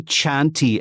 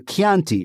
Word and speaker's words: Chianti: And I know that Anglophones can say it because we don't say Chianti anymore for Chianti, right? It's CHI, but we say it as we do in Italian, which is Chianti.